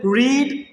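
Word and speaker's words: read: അതുപോലെ റീഡ്, ഇത് റീഡാണ്, വായിക്കുക. ഇതിൻ്റെ സെക്കൻഡ് ഫോം, തേർഡ് ഫോം എന്താണ്? റെഡ് ആണ്, റെഡ്. സ്പെല്ലിങ്സ് എന്താണ്? സെയിം ആണ്. സ്പെല്ലിംഗ് സെയിം ആണ്, പക്ഷേ ഉച്ചാരണം ഡിഫറെൻ്റ് ആട്ടോ.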